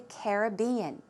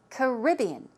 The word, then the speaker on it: Caribbean: all number one caribbean caribbean the stress goes on the second syllable one more time caribbean